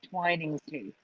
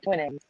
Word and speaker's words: Twinings: I will say I agree with you on the 2 N's, but I pronounce it Twinings too. I don't pronounce okay. it Twinnings.